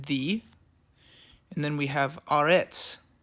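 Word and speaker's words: ארץ: and then we have Aretz, okay, which is spelled A-R, and then the tzadi on the end makes the TS sound, Aretz, okay?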